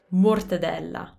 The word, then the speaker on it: mortadella: Don't be afraid to let your lips kind of come out of it because that's how you create that closed sound. Mortadella.